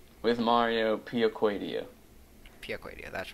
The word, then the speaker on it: Piacquadio: Piacquadio. With Mario Piacquadio. Piacquadio, that's right.